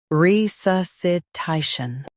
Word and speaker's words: resuscitation: re su sci ta tion resuscitation Stress ta and keep shun soft.